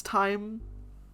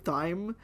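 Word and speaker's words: thyme: you faster I'm sorry I know how to Pro properly pronounce time but I got into this habit of saying thy because I thought it was funny and now I unironically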